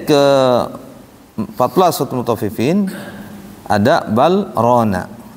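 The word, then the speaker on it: بل ران: Lam ketemu ra harusnya idgham mutaqaribain. Wa qul rabbi dibacanya wa qur rabbi zidni ilma. Tapi khusus untuk di sini harus saktah. Biar apa? Biar kalimat ron terbaca ron jelas.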